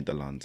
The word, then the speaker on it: Dlonze: But then someone called me Dlonze, and I was like, oh, that's how people. That's how you pronounce yeah.